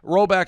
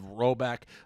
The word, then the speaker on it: Rhoback: So Roback Activewear, I can't go anywhere without seeing Roback.